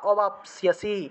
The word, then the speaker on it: অবাপ্স্যসি: মদর্থম আপি কর্মাণি কুর্বন কুর্বন সিদ্ধিম অবাপ্স্যসি, অবাপ্স্যসি এভাবে, অবাপ্স্যসি পদন্তস্ব আছে, আর জফলা থাকায় সিও উচ্চারণটা আসলো।